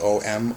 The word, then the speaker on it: Om: You have Om, some pronounce it O-M, Om.